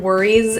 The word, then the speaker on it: worries: The S in this word worries is pronounced as a Z, a voiced Z sound.